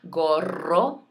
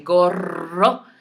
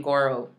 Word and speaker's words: gorro: So even if you come online and you say gorro, that's better than saying goro, right? I don't want to hear goro.